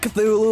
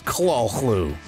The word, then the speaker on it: Cthulhu: credits and yes that is actually how you pronounce call clue it's not Cthulhu or Cthulhu yeah it's Claus Lou seriously look that one up we're not lying